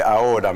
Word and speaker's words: ahora: C'est ahora, mais c'est prononcé un peu comme on le prononce à la campagne.